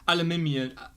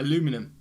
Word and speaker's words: aluminium: a lot of words like um aluminium aluminium you guys caught aluminum like how does that happen but i completely get and you spell it differently i believe it's not